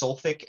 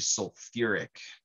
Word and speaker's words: sulfuric: If you have both of the hydrogens there, it's not just sulfic acid. It actually gets an extra syllable thrown back in there. So it's actually sulfuric acid.